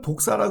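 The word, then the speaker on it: δόξα: 근데 헬라오르는 독사라 그럽니다. 독사. 뱀이 아니라 발음이 독사예요. 독사.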